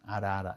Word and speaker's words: arara: da palavra, por exemplo, tem aquela ave, né, famosa, arara. Arara é a r a r a arara. A gente não fala ahaha, tá?